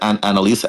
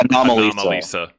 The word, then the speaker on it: Anomalisa: Annalisa? Annalisa? How do you pronounce it? Anomalisa.